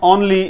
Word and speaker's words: only: इसे हम ओनली नहीं कहते, ठीक है, ओनली। तो ये ओनली नहीं है बल्कि ON, ऑन, ON, ऑन, LEE, ली। ओनली नहीं कहना, ओनली कहना है।